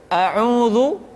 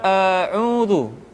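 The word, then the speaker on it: أعوذ: Contoh, a'udhu sering dibaca a'udzu.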